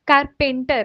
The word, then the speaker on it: carpenter: Carpenter ऐसे नहीं बोलेंगे, carpenter. पे एकदम स्ट्रेच नहीं होगा, इसका प्रोनाउंसिएशन में ये र बस है ना, यू कैन सी कारपेंटर, कारपेंटर, है ना, ए को ज्यादा स्ट्रेच नहीं करना है यहाँ पे, this is the right pronunciation, Carpenter.